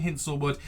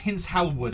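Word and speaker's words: Hinshelwood: I've been saying Hinselwood. It's Hint Helwood I think, but it's going to be Hinselwood.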